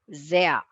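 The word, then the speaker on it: sehr: it's pronounced as saya zaya yeah za that sound of the zebra zaya zaya means very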